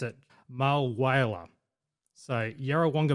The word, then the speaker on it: Yarrawonga: at yarawonga and now this is where he's pronounced it malwa so yarawanga malwala that's how you pronounce it i got